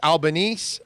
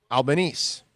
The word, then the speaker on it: Albanese: Bromar says Albanese, like Japanese. Okay. Albanese.